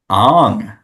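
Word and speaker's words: Aang: have one left Avatar isn't this journey of Ang as it is correctly pronounced in the M Shyamalan movie this one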